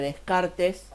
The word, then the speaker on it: Descartes: El apellido se escribe Descartes, pero se pronuncia Descartes.